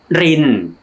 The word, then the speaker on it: ริน: for pouring something Slowly or carefully โอ It's pronounced ริน รอ อิ น ริน ริน It's Like when you are carefully pouring